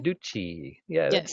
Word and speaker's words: Carducci: Either one will work, but my husband and I usually use the Carducci pronunciation. Carducci.